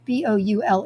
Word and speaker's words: Boule: So we eat half the, I don't know how to pronounce it in France. It's Boule.